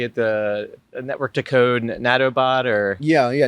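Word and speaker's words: Nautobot: You know um to see the how do you say it the network to code nattobot or Yeah. Yeah. Natabbot.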